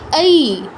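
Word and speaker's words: ঐ: কি কি নিয়ে গঠিত, এটা হচ্ছে আ আর ই নিয়ে গঠিত, আ আর ই। এই দুটো একত্রিত করলে যে উচ্চারণটা আমরা পাই সেটাই হচ্ছে মূলত আমাদের এই এর উচ্চারণটা কি এই, এই, এই, এরকম।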